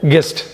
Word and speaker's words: guess: இதில் again you வந்து silent. எழுதுகிறப்ப GUESSன்னு எழுதுகிறப்ப அதே சமயத்தில் உச்சரிக்கிறப்ப GESSன்னு தான் உச்சரிக்கணும்.